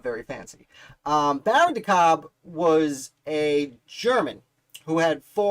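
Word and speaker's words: de Kalb: as baron de cobb i think it's pronounced cobb like corn on the cob but there's that l so i kind of try and sneak it in there when i say it baron dekalb uh i say it's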